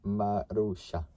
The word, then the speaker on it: Marussia: Pronounced Marussia.